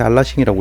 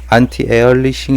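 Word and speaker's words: anti-aliasing: 하더라구요 1 뭐 처럼 무식해 가지고 않지 알라 시기라고 읽었는데 한티 에얼리 싱 이라고 하더라구요 금호 자세하고 국가 이 부분에 대해서 자세히 알고 싶으신 분들은 안티 에얼리 싱 이라고 검색하시면 많이 나오더라구요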